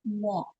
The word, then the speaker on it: walk: Instead of W, you sound it's V. I could hear the V sound. Walk. You said walk. It's W. It's walk.